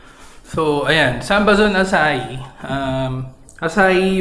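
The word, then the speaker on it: açaí: Um, Asai yung pronunciation diyan e na hindi akay.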